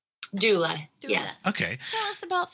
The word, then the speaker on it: doula: I don't know if I'm going to pronounce it right. Doula? Doula.